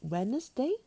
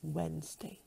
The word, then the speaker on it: Wednesday: The word is Wednesday. Wednesday. Not Wednesday, but Wednesday. There are only two syllables in this word.